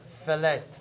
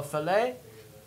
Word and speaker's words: fillet: But right there, fillet. It's French, so the T is silent. Okay? So fillet.